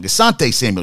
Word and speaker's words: Asante Samuel: Asante Samuel Jr.